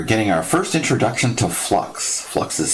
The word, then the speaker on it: flux: okay we're getting our first introduction to flux flux is spelled f l u x and it's the